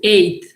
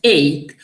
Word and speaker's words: ate: would have to say ate or at. You can pronounce it either ate or at.